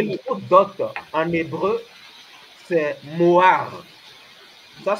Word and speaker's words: mohar: d'abord et le mot dote en hébreu c'est Moar ça s'écrit m o H a r ce qui